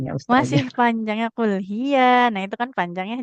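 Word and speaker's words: هي: Nah, ya fathah di depannya enggak ada alif maka enggak boleh dibaca panjang. Enggak boleh dibaca panjang ya. Qul hiya mawaqitulinasi wal haj. Coba diulangi ibu. Qul hiya mawakituinasi wal haj.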